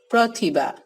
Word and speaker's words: প্রতিভা: যেমন আমরা লিখি প্রতিভা, উচ্চারণ কি করি? প্রতিভা, ও বলি।